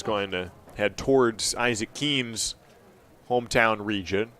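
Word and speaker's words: Keehn: years at keene state pronounced the same way as his surname but spelled differently he's k-e-e-h-n keem state is k-e-e-n-e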